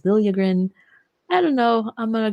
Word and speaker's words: Liljegren: pronounce his name because he apparently wants it to be pronounced Liljegren now. This was a talk of Twitter last night, even though there's like this video of him pronouncing his name as Liljegren.